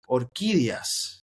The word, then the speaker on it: Orquídeas: Kid Cudi and Kali Uchis, Orquídeas.